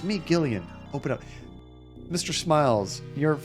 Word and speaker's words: Gillian: Although Gillian, they also spell with the G as well when you pronounce it like that. It is hard G, okay.